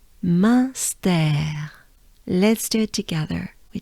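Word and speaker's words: Munster: And here it's part of stare. We could think of the words to stare, or a stare, a flight of stare, or, stare, right? Stare. And pronounce it the French way, with a French accent. Stare. That's what we're looking for. Stare. And together, they sound like this. Münster.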